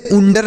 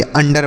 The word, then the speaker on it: under: इसे उंडर नहीं पढ़ेंगे, अंडर पढ़ेंगे। ऐसा बिल्कुल नहीं पढ़ेंगे यूंडर।